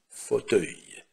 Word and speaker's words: fauteuil: существительное с окончанием E, U и L, которое произносится как œil, fauteuil, fauteuil, кресло, fauteuil.